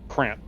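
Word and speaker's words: krantt: Uh, Crant.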